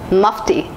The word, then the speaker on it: Mufti: list is musty Mufti it should be pronounced as Mufti Mufti is an Indian brand